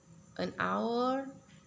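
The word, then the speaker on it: hour: o contohnya dan apel our dan yang terakhir n orange Hai Kenapa Diana or ini kan dalam hotel penulisannya itu Hah kenapa dia tulusnya n bukan Al karena dalam pronounciationnya itu huruf vokal dulu our Hai our sehingga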